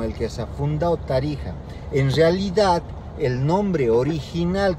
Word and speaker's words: Tarija: se escribía con la X, pero se pronunciaba como la J. México, Texas, Tarija.